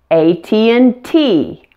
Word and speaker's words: AT&T: how to say them correctly pronounce each letter completely with the most stress on the last letter like this CEO AT&T KFC I've heard so many